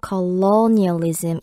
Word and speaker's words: colonialism: 이음절의 강세가 있어서요. colonialism, 이 low 발음할 때 조금 더 길게 발음하시면 돼요.